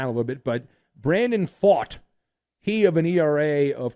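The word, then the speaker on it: Pfaadt: hard name to pronounce Brandon fat or fight fought fought not fat he looks it looks like fat it's it's fought PF a DT was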